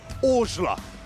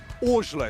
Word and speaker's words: Orzla: Row 4 has Arten, and Arten, I've specifically gone and asked your father how you pronounce your last name. Orzla. Orzla is how he pronounced that name.